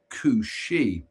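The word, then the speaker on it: cù-sìth: This is said to be a coup sith, pronounced cooshi.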